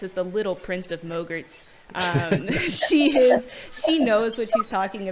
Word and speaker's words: Mogrt: A Mogrt, which rhymes with yogurt.